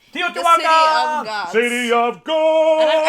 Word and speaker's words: Teotihuacan: the name is impossible to pronounce, but I pronounce it Teotihuacan. Teotihuacan!